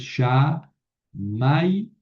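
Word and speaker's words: שמימה: Entonces, Shamaima. Eh, Shamayim, como ya sabemos, quiere decir cielo. Shamayim. Shamaima, ojo con el acento, no cae al final, no es Shamaima.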